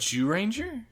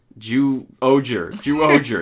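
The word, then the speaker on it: Zyuohger: Ju-Ranger? Ju-Oger. It's one syllable is different, motherfucker.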